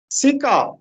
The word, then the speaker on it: سکہ: درست تلفظ ہے سکہ.